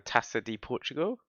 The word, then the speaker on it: Taça de Portugal: Today we're going to play, which I think is pronounced the Taça de Portugal.